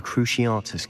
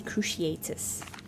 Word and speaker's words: Cruciatus: Are you familiar with the Cruciatus curse? Yes. Oh, that's how you pronounce Cruciatus. You'd think I'd know with watching the films, but yeah. I always say Cruciatus.